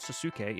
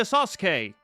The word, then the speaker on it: Sasuke: That's how you say it, like, it's not Sasuke, it's Sasuke. What Benkei pulled out was all stiff with batteries almost falling out.